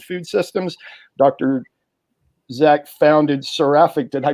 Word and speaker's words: Seraphic: Zach founded Seraphic. Did I pronounce that right?